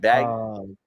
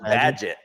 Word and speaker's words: Badgett: I always fuck up the pronunciation, like Bajent, right? Bajent or something? Yeah, Badgett. I think it's pronounced Badgett.